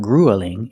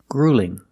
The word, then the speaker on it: gruelling: We don't pronounce this word gruelling. It's not grueling. It's grueling. Grueling. The first vowel is the long oo like food and boot.